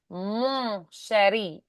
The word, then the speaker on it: mon chéri: anywhere that there's a vowel before an N, like and. Um, they also don't really pronounce the N. They just turn the vowel nasal. So like mon chéri.